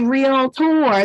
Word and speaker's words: REALTOR: Ferguson I am a real tour that is pronounced with two syllables and when you write